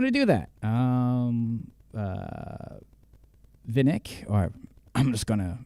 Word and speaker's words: VNYK: Um, yeah, I don't know if I'm pronouncing it properly, but uh, yeah. Um, VNYK or Vinnick, I guess. So, yeah, Vinnick. Vinnick.